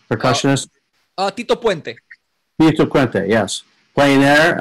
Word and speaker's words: Tito Puente: But Anthrax, of course, was was great with the Who's the famous uh Pia Pente Pente How do you pronounce his name? Percussionist? Uh Tito Puente.